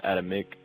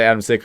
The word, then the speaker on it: Adamczyk: Adamczyk or Adamick, didn't really matter. Adamick? Yeah. Okay, because I always say Adamczyk because of the C.